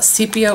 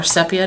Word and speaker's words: sepia: colored one and lastly a sepia or sepia depending on how you like to pronounce it I also have some